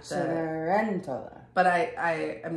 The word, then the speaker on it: Cenerentola: It's Cenerentola. Oh, Cenerentola? I mean, I gotta look it back up. But it was like the C is a ch, which we in Italian can happen.